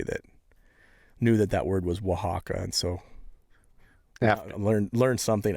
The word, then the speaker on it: Oaxaca: looks like Oaxaca style hot sauce, and it's Oaxaca. And I had Rhett Grizzly Heat Griffin, who does reviews. He was the one that knew that. He had somebody that knew that word was Oaxaca, and so Yeah.